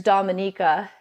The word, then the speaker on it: Dominica: Republic and then there's Dominica commonly people mispronounce it but it's Dominica should be called The